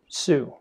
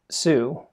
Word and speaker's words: tsū: Social Network called Sue before I tell you about all the reasons I like Sue and you pronounce that like the word tsunami I first want to